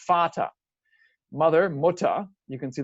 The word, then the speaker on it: Vater: In German, it's spelled with a V, but it's pronounced the same letter is still that F sound, Vater.